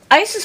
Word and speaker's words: Isis: But Isis is how I guess we all pronounce it now.